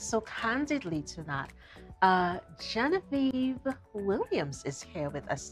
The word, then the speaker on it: Genevieve: candidly to that uh Genevieve Williams is here with us today but as I like to call her jean-vieve because I prefer the French pronunciation and uh Genevieve is